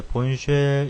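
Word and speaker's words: Bourne shell: 그 다음에는 이제 그 가장 기본이 됐던 이제 본쉘, 이걸 본쉘이라고 읽습니다.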